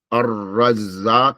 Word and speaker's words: الرزاق: الرزاق has a shadda on the ra, also a shadda on the zay.